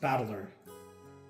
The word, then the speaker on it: Battler: This is made up of the characters for fight and person and it's pronounced battler.